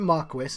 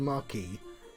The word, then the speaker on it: marquis: called the marquis and they pronounce it marquess instead of marquee and i didn't realize